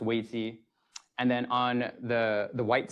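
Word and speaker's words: 危机: It's pronounced weiji.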